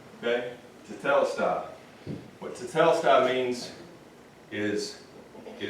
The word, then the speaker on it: tetelestai: Carlton, you know how to pronounce that? It's tetelestai. Okay? Tetelestai.